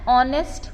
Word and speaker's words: honest: एच is silent hair, right. So when H is silent in this word, so we are pronouncing R. So therefore an is written.